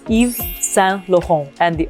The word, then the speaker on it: Saint Laurent: And I mean, the second and the third word, okay, don't pronounce the T because it's the end of the word.